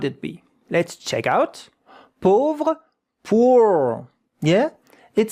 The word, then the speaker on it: pauvre: Pauvre, A-U. These two letters make the sound O, not O. O. Pauvre, pauvre.